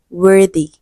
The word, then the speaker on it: worthy: For example, the word worthy wy does not have e or e r after th but it is the voiced sound.